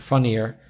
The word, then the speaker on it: funnier: changes a lot so in further it's the er sound further and in funnier it's the uh sound like like up funnier yeah this is perfect